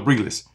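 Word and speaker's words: Briles: Garrett Riley, Kendall Breeless, that's how you say it, Arkansas's OC, Kendall Breeless, and Joe Brady.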